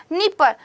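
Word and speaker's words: Dnieper: कौन सी आती है, नीपर आती है। स्पेलिंग इसकी डी से शुरू होती है बट बोलते इसको नीपर ही है।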